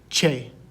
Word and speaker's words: che: the spanish alphabet and this one is pronounced che so we have a bay repeat after me che and a word that uses